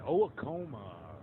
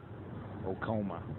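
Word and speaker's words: Oacoma: Chamberlain and Owakoma. I'm just joking. That's not how it's pronounced. Okoma.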